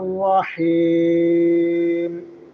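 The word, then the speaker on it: الرحيم: আশ্রয় চাই বিসমিল্লাহির রাহমানির রাহিম বিসমিল্লাহির বিসমিল্লাহি রাহমানির রাহ এখানে হা উচ্চারণ করতে হবে রাহ রাহমানির রাহিম রাহ রাহমানির রাহিম রাহি হা কন্ঠনালীর মধ্যখান থেকে বলতে হবে হা রাহিম দয়াময় পরম দয়ালু আল্লাহর নামে শুরু করছি।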